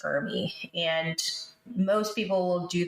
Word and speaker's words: ERMI: a test called the ERMI, and it's ERMI, pronounced ERMI.